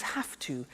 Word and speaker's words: have to: I have to notice I don't say V I say F have half it becomes half to have the two becomes